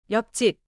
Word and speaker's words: 옆집: for 옆집. The spelling is 옆집. But in natural speech, it sounds tight. Close to 옆직. 옆집.